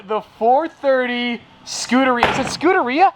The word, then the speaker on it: Scuderia: 430 scootery is it scooteria how do you pronounce it scudaria Scuderia Scott Scott yeah it's this guy the Americans say scud because we don't know our Italian very well one of my all-time